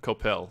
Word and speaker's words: Coppell: I think I clarified how to pronounce that, right? Coppell.